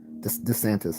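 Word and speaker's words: DeSantis: Ron s how you say his name santis Des santis all right Ronda santis and others start busting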